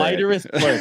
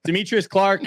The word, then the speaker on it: Demetrius Clark: Deiterus Clerk is literally the worst way that I've ever heard my name pronounced. But Demetrius Clark, uh, dev at Netifi,